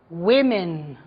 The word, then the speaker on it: women: Be careful with the pronunciation, okay? Woman, women.